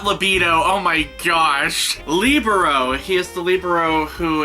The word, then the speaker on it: libero: He is the libido. Is that right how you say it? No, sorry, not libido, oh my gosh. Libero.